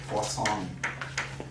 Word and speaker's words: Poisson: Not poisons, Poisson. It's French, pronounced Poisson. Poisson. Poisson. Poisson distribution, it's a French word.